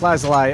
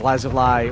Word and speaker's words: lazuli: phosphate meat Hydra gamer if you're pronouncing lapis lazuli as lazuli ore lazuli you're fine or lazuli that's fine - whatever all three of those are okay I mean monitors usually do